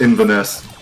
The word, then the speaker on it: Inverness: It's pronounced Inverness.